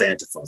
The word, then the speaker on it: Antifa: online saying that Antifa, it's pronounced Antifa, so I make jokes